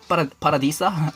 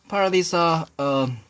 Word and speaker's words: Paradisa: These are probably from Paradisa. How do you pronounce it? Paradisa, like Spanish style. Paradisa, and bad quality looking Octane sticker.